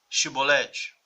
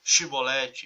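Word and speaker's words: Xibolete: norte não sabiam falar Chibolete, eles não sabiam essa pronúncia do chi, aí pronunciavam si.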